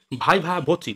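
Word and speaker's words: viva voce: পরের শব্দ হচ্ছে কি ভাইভা ভচি। দেখো উচ্চারণ দেখো ভাইভা। আমরা শুধু ভাইভা বলে ছেড়ে দিই, কিন্তু ভাইভা কিন্তু ওই ওয়ার্ডটা সম্পূর্ণ ওয়ার্ড নয়। সম্পূর্ণ হচ্ছে ভাইভা ভচি।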